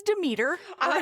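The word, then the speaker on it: Demeter: So, it's de meter.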